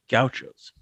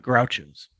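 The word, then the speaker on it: Gauchos: you spell gaos because a lot of people spell it wrong and they say wrong it's G Au C hos yeah goutos not grouos conference headquarters keep it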